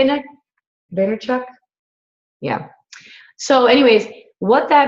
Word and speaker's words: Vaynerchuk: Vaynerchuk?